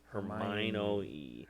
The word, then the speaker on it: Hermione: messing it up and she's like no it's her my no no hermione hermione hermione hermione what a [